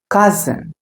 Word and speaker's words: cousin: Kazan, say it after me. cousin, cousin. It's not cousin, it's cousin.